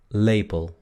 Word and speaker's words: lepel: Luego tenemos cuchara, lepel, lepel, lepel. Se dan cuenta que la primera E es larga, luego les voy a explicar por qué, a pesar de que no se escribe con dos Es.